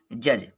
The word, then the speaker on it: judge: अगर जी से पहले डी होता है तो साइलेंट रहता है डी। तो देखेंगे एग्जाम्पल के माध्यम से, जैसे ब्रिज, BRIDGE। दूसरा एग्जाम्पल देखेंगे जज, JUDGE।